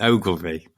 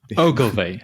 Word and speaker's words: Ogilvy: actually a video on youtube that helps people pronounce ogilvy so it's ogilvy ogilvy there you go ogilvy consulting london looking at